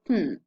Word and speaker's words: can: The weak forms are two, can or kn. These are used in unstressed context.